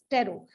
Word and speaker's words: Tarot: लोग क्या बोलते हैं, टेरो। जो लोग टेरोट बोलते हैं वो टेरोट ना बोले इसको, इट इज टेरो, इस TARO टेरो। टी जो पीछे का है वो साइलेंट है, ठीक है।